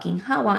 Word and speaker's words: ginhawa: Um, I want to just ask a little bit more about ginhawa.